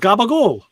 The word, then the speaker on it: capicola: yeah well how how what is the correct pronunciation of capicola we just said it one time just gabba gold gabba gold okay good yes that's the one okay cause i've heard that